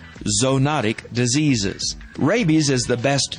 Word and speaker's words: zoonotic: as zoonotic diseases now that word looks like zoonotic but it's actually pronounced zoonotic diseases rabies is the best known and perhaps